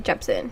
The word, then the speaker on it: Jepsen: and carly rae jess jepson oh i do not know how to fully pronounce her name but i think it's carly rae okay so it is carly rae jepsen so yeah i chose